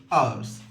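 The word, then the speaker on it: hours: घंटों से फॉर फोर आवर्स एच ओ यू आर एस को आवर्स पढ़ते हैं एच साइलेंट होता है दो दिनों से फॉर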